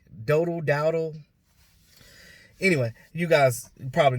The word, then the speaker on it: Dowdle: I don't know how to pronounce it. It's Dowdle.